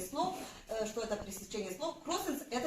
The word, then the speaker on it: кроссенс: Мы сначала как оно читается, а потом попробуем его объяснить. Итак, кроссенс.